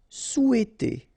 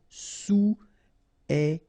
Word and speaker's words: souhaiter: Essayer de, essayer de, tourner vers, final S not pronounced, tourner vers, attendre, attendre, désirer, désirer, vouloir, vouloir, souhaiter, Remember, H is not pronounced here, so souhaiter.